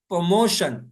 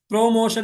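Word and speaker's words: promotion: मुत पोशन पोशन हिस्सा प्रमोशन प्रमोशन प्रमोशन देखले प्रोमोशन नहीं बोलिएगा प्रोमोशन नहीं प्रमोशन प्रमोशन बस य पा के ऊपर जबर दीजिए उसके बाद मो प प प्रमोशन तरकी इलस्ट्रेशन इलस्ट्रेशन तस्वीर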